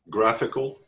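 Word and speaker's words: GraphiQL: the graph we call I don't know how to pronounce that graph iql where you can do see if it's up and running right to test strings one soso graph graphical graphical yeah sounds good more graphical is it's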